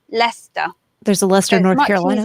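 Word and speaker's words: Leicester: in English we have Lester Lester when we look at that word first what looks like a like a stir my sister my sister actually it's only two syllables and we simply say Lester there's a Lester North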